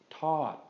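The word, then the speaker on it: ทอด: we put these together we're gonna get a long falling tone which is this word is gonna be pronounced todd todd okay Todd and tie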